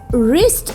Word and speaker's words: wrist: his right wrist wrist the spelling of wrist is w-r-i-s-t wrist students do you know